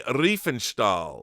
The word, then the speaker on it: Riefenstahl: This is a documentary about Leni Riefenstahl, right?